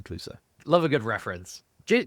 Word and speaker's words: Cluso: So yeah, it's spelt differently, obviously, but it's Inspector Cluso.